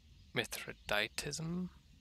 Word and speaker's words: Mithridatism: do it we might want to get um methoditism that's how you pronounce it up another tier just to increase